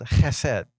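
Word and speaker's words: חסד: word in Hebrew called ahead you say it right you have to you have to say it from the back of your throat I said it it's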